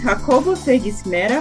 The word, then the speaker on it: Jacobo Fe Gismera: your host for this episode today's guest is jacobo fergus mera from spain hello jacobo hello you pronounce my name very well actually wow thank